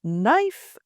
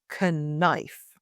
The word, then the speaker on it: knife: The silent letter K. The word no, it sounds like no in yes or no and not know. The word knife, pronounced knife and not knife.